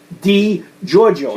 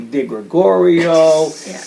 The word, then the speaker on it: DiGiorgio: same problem with my name because my name is spelled DiGiorgio, so it's DiGiorgio. It's Giorgio with a Di in front of it. Right. People call me DiGregorio.